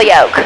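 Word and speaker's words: yoke: is this called control yolk control yolk like an egg it's spelled differently but yes like an egg control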